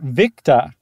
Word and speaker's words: Victor: They have for O for Oscar, they say to pronounce it Oscar. And then oh, really? Victor, Victa.